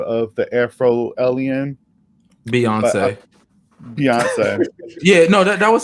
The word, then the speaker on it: Beyonce: of the afro alien beyonce beyonce yeah no that was her name beyond but it's spelled like beyond and then say lavi so beyonce yeah and you know